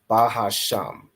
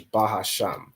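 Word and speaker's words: בהשם: say it so it's bahasham right so the way you'd read this is bahasham which means in the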